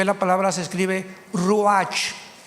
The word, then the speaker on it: ruach: Biblia la palabra espíritu que es la palabra se escribe ruach r u a c h ruach Qué es la palabra espíritu vemos Nosotros